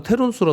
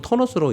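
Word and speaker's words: Ternus: 공식 용어는 존 터너스라고 쓴다고 하네요. 터너스를 읽어서 어떤 국가에서는 테르누스라고 읽나 보죠. 네. 기사에 제가 쓴 게 아니고 기사의 얘기예요. 근데 지금 공식 용어는 터너스라고 읽는 것 같습니다.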